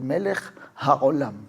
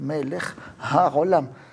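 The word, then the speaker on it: מלך העולם: Mucho lo que más veo y la verdad a veces me duele, pero la gente sube al sefer y el melejolam no es meleamolam melejolam así casi ni se le entiende, casi no lo pronuncia.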